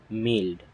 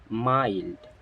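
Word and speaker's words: mild: এম আই এল ডি মিল্ড ইটস নট মিল্ড এর উচ্চারণ হবে মাইল্ড কি হবে মাইল্ড এর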